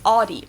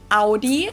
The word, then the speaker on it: Audi: the first one is aie most Americans that I know pronounce it like I just said it aie in German we say AI Audi and there's actually a